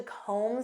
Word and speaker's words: comb: Do you have time to comb through this report? Do you know what this means? To comb through. And notice that B is silent.